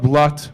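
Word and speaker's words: блядь: Actually, do you guys know what blat means in Russian? They just say blah, but it's blat and it's spelled B-L-Y-A-D.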